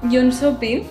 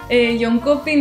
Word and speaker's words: Jönköping: era pues lo hice se llama joh shopin que se escribe hon copin la tima pronunciación sabía sí que ya al principio cuando estaba aquí en España pues decía H copin John copin no y luego te vas allí y todo el mundo dice John sopil como con ese